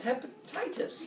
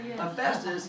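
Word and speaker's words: Hephaestus: part now with hesus the number one way of mispronouncing his name name is not realizing what these two letters sound they make together what sound does that make together yeah it's like my name like a telephone like Jack Phillips last yeah and so it's the pH too many kids see that and they see a p and a t and they say his name is hepatitis my MD name hepatitis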